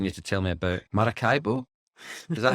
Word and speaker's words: Maracaibo: start by asking you to tell me about Maracaibo is that how I pronounce that that is how you pronounce it yeah so tell me about Maracaibo where is it uh well um in Venezuela